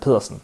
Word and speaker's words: Pedersen: win the world championship last year for the pronunciation the police it is pilsen for the for the last name i had